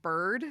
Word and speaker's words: Biird: This is called Bird. The name of the company is called Bird, and it's spelled BIIRD.